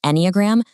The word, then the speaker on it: Enneagram: The word Enneagram, it's pronounced Enneagram, literally just means a drawing with 9 points.